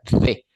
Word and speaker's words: the: el artículo definido THE, pero se pronuncia de. No es de Dinamarca, sino de. Sacando un poquitito la lengua, la punta de la lengua, de.